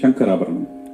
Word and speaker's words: Shankarabharanam: Shankarabaranam.